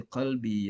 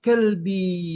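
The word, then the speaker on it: قلبي: Qalbun bil kaf itu anjing ya, bil qaf dia sama qalbun dengan kalbun, beza jauh.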